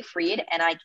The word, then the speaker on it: Fried: So it's Nikki Fried, NIKKIFRIED is the website. So spelled like fried, but it's pronounced Fried.